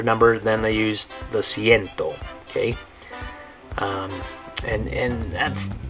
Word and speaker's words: ciento: Good, ciento. The C in there is making that soft C sound, the S sound.